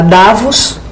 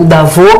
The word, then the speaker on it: Davos: os dois falaram que ela foi a davos né ou da vou que é a pronúncia correta é porque é francês né acendeu uma vela